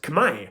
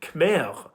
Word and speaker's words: Khmer: The R is spelled in the word because historically it was pronounced.